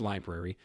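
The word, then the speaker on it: LBRY: other unconnected forms though Brie project pronounced library was the next to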